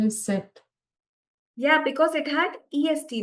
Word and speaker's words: c'est: it we call it set or say. Set we'll pronounce only when the next word starts with a vowel.